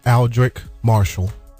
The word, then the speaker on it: Aldric Marshall: Uh the the correct pronunciation of my name is Aldrich Marshall.